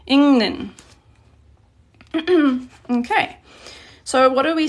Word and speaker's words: 읽는: And then notice how this, when it's pronounced, this is pronounced 읽는. So this whole thing here just becomes a ning sound when you're pronouncing. 읽는.